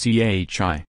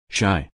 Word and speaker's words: Chi: ex Jordan Gregg and to everyone who thinks it's literally pronounced as CH I know it's shy meanwhile Kim 37 and